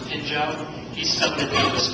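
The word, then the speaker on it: Phinjo: The gentleman that I climbed with both years, Pinjo Sherpa, is spelled P-H-I-N-J-O, but pronounced Pinjo.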